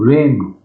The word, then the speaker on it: reign: policy makers battle to reign reign means control r-e-i-n i-n-n r-a-i-n is badish pronunciation is the same rain in inflation that